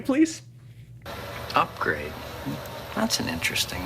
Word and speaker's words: Upgrayedd: Okay, so Upgrade is her pimp, and his name is spelled UPGRAYEDD. Yep. Upgrade.